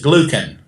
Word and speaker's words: glucan: Probably you most often hear it as glucan. Yeah. That soft second syllable, and but either way, people will know what you're talking about, or they won't.